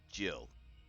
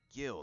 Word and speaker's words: gill: when you're talking measurement, it is pronounced Jill. Huh. It's been bugging You would me think for that- episodes, and it's just, yeah, I was like, Gil, that don't sound right.